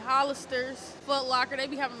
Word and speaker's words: Hollister: Hollisters is not the official name of the store. It's called Hollister. They be having is informal English. A lot of is an informal contraction of a lot of. The correct way to say everything is I would say Hollister.